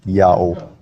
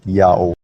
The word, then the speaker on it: IAHO: Now the Latin letter H at the time of Jerome is an H sound if it's the first letter of a word, but if it's not, it's a silent letter. And Latin adopted that rule from ancient Hebrew, so IAHO is read clearly as Yao, read clearly as Yao.